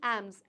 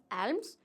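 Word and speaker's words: alms: a state of bagging एम्स एम्स मतलब भीख जिसमें एल साइलेंट इसलिए आई एम not saying एल्म्स इट्स एम्स क्या वो सिचुएशन जिसमें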